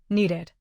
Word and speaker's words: needed: Need ends with D, the special trigger. The past form adds the ID syllable, needed. Say we needed more practice. Count two beats, needed. This is the one case where the ending is a full extra syllable.